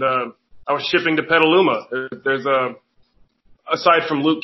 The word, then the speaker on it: Petaluma: shipping the petaluma because she pronounced it i forgot how she said it i said no it's petaluma it's where i'm wrestling